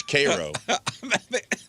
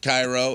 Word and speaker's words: Cairo: It's ko. It's not Cairo. It's spelled exactly the same. They didn't change the C to a K.